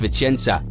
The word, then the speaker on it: Vicenza: Il a montré son incroyable performance lors de ses débuts, marquant un superbe coup franc de 30 mètres contre Vicenza (vo : prononcé « Vichenza »).